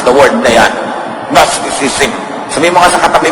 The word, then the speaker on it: Gnosticism: Ang pagmamasama sa sayaw, sa sarap, pagpapasarap, pag-enjoy, Gnosticism yan. At pag-uusapan natin mamaya yan, napakahirap i-spell yan at i-pronounce the word na yan. Gnosticism.